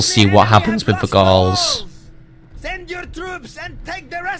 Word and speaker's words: Gaul: We won't move this turn, but we will see what happens with the Gauls. Send your troops and take the rest of the settlement. Did you know that Gaul rhymes with wall, by the way?